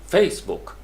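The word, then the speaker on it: Facebook: Basically ये noun है तो हम इसको कहेंगे फेसबुक, फेसबुक, फेसबुक, फेस के ऊपर स्ट्रेस ज़्यादा होगा और बुक के ऊपर हल्का हो जाएगा।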